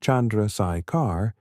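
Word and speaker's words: Chandrasekhar: a value known as the Chandrakar limit, pronounced Chandraikar, it can no longer support itself against gravitational collapse.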